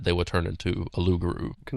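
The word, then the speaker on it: loup-garou: their uh their language, the French Cajun Ruguru. So, Lugaroo in French, Rugaroo in French Cajun.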